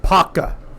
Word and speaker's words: Apopka: a town near us in Apopka. It's pronounced Paka. Paka. Okay. Those of you who live in this area, it's Paka. Paka.